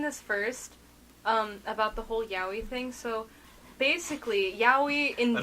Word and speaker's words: yaoi: fun fact: 801 in Japanese is yaoi, so the number 801 is pronounced yaoi.